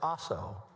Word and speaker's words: Asso: Mr. Asso is the correct pronunciation.